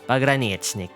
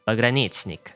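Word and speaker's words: Pogranichnik: Note that the letter O is pronounced as ah, because the letter O in Russian is only pronounced as oh when it is stressed, and in this case, it is not indeed stressed.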